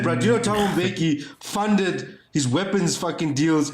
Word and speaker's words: Mbeki: Motherfucker, you know how to spell it. Thabo. It's Mbeki. Come to let's go. Let's work it. Mbeki.